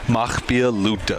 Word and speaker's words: Mahpiya Luta: I mean, there Wnebago and How do you pronounce them? Makpia Luta.